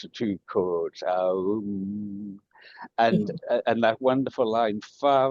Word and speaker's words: Om: And the final song, Om, or Aum, as they pronounce the two chords, Aum.